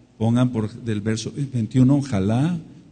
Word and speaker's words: jalá: por del verso 21 jalá J a L A con acento en la a es la Primicia de